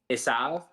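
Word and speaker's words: עשו: than in English so Esau is uh esav is how that's pronounced and then Jacob is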